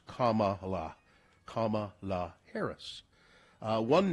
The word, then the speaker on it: Kamala: People saying Kamala or Kamala. It's Kamala.